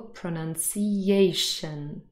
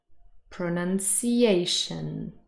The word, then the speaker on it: pronunciation: first of all pronunciation the main stress is on a this is the fourth syllable pronunciation pronunciation but you can hear that none the second syllable is also a little bit louder than the others not as loud as